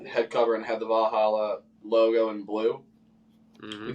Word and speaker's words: Valhalla: Valhalla. Valhalla.